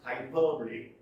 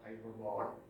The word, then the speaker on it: hyperbole: freedom of speech number 20 hyperbole pronounced hyperbole not hyperboard watch this it is